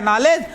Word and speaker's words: knowledge: अंग्रेजी में silence word पाए जाते हैं, जैसे KNOWLEDGE लिखा गया नॉलेज, और जबकि पढ़ा गया इतना और लिखा गया केवल नॉलेज।